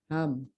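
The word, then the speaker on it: Helm: This is हैम, L silent हो जाता है, हैम विंड।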